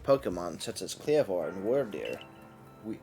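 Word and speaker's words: Wyrdeer: such as cleavor and were deer we I guess that's were deer yeah I said it right like a worm foreign is that all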